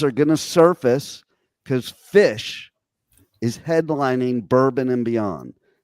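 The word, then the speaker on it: Phish: going to surface cuz fish is headlining Bourbon and Beyond and okay for you Canadians we spell that pH kind of like fat with ph it's fish with ph yeah like [ __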